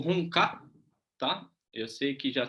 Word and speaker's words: Hung Gar: Vou falando como o pessoal conhece também como Hungar, né? Mas a pronúncia seria Hunka.